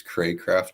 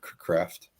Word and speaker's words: Craycraft: So it's a long A. It's Craycraft, not Craft.